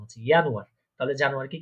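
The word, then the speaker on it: Januar: আপনি আমার সাথে সাথে প্রোনাউন্সিয়েশন করবেন, আমি একবার বলবো, আপনি আমার সাথে ওটা বলার চেষ্টা করবেন। ইয়ানুয়ার মানে হচ্ছে জানুয়ারি।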